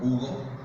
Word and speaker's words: Hugo: Porque la H se pronuncia fuerte, mientras que en español es muda.